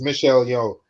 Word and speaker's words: Michelle Yeoh: So yeah, I got the name wrong. It's Michelle Yeoh.